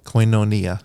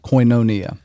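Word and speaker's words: koinonia: your it's it's all it's all with the emphasis emphasis on the right salable on the right salable okay so H so just for clarifica how do you say it coinonia coinonia yes and it's a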